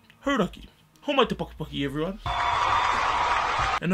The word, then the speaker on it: Hauraki: of Radio Hauraki, and persuaded them to properly pronounce Hauraki.